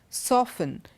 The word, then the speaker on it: softened: we have T pronounced even in words like Christmas listen hasten softened none of these words do we have T and look at the